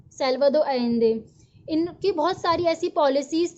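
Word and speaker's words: Salvador Allende: इसको हम कैसे प्रोनाउंस करते हैं, सैल्वाडोर एलेंदे।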